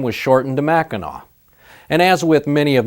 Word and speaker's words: Mackinac: in French is pronounced Mackinac. The English named the city, which is on the northern tip of the Lower Peninsula. They changed the spelling to the way they heard it, ending in AW, Mackinac.